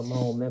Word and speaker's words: Maomé: o profeta do islamismo a pronúncia portuguesa é maum né Uhum mas se você falar Maomé para os muçulmanos não vão entender do que você está falando né que é o profeta Muhammad eh então a mensagem